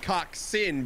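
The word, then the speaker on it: coxswain: some Pirus music on it full oh it's pronounced coxen but spelled Cox Swain so I was right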